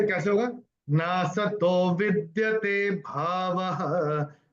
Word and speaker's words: भावः: देखिए, एक और रूल होता है, प्रथम और तीसरे चरण की समाप्ति पर अगर ओ की मात्रा आती है तो ओ का उच्चारण विसर्ग होता है। ठीक है, ये दूसरे अध्याय का 16वां श्लोक है, बड़ा फेमस श्लोक है। नासतो विद्यते भावः, आपकी किताब में भावो लिखा है, तो ये कैसे होगा?